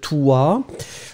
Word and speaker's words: toi: O and E together give you the sound one more time. Wah, wah, wah, wah. So it means that T with wah will give you toi.